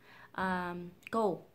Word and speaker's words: cold: Và ngày xưa mình cũng mắc lỗi này, mình đọc là cold. Cold.